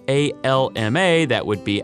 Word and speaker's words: Alma: The city is spelled A-L-M-A, that would be Alma, but I've been told and heard that it's pronounced more like Alma.